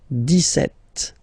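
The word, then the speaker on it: dix-sept: then for the pronunciation deset okay so you don't insist on the S deset deset okay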